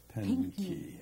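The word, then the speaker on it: Pinckney: Clementa Pinky, is that the way you pronounce that? Pinky.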